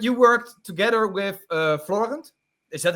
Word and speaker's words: Florent: So but you worked together with uh Florent is that how I say it correctly his name? Yeah. Yeah I call him Flo but Floren.